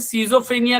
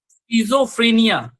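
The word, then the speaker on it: schizophrenia: यहाँ पर एक जो बहुत कॉमन डिसऑर्डर है स्कीजोफ्रीनिया, इसको हम लोग बहुत बार गलत प्रोनाउंसिएट करते हैं, सीजोफ्रीनिया कहते हैं, सही प्रोनाउंसिएशन है इसका स्कीजोफ्रीनिया।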